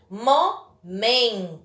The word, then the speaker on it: momento: Momento. Então, contando de trás para frente, última, penúltima. Então, a penúltima sílaba da palavra momento é a mais forte.